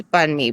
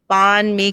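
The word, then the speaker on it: Bánh mì: 15 years ago, um people couldn't pronounce Bun Mee properly. And that was so frustrating to me. They would say "Ban Mee" cuz it's spelled b a n h and there's a silent h.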